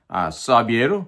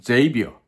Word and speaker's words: Xavier: 영어 스펠이 XAVIER, BRUNSON 그러다 보니까 사비에르 혹은 제이비어 뭐 여러 가지 발음이 나옵니다.